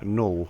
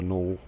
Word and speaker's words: Null: player-run faction almost in Null, which you can see at the bottom left, N-U-L-L. I realize my U's are pronounced in a kind of Northern English way, but it's kind of